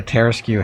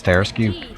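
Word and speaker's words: Tarrasque: I pronounce Tarasque oddly. How do Tarasque? That's how it's pronounced.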